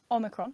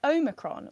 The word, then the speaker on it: Omicron: So because everybody has been mispronouncing the word Omicron, and that's how it should be pronounced, Omicron, with a short O at the beginning. Some people are saying it Omicron, Which is particularly annoying